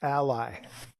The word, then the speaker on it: Ally: Ally as in ally. Like a friendly country like an ally.